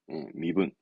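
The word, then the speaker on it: 身分: 저건 신체, 신타이, 신타이, 훈독은 미. 그래서 신분 증명사 때 신분 발음은 이겁니다. 미분입니다. 예, 미분. 좀 조심할 필요가 있죠.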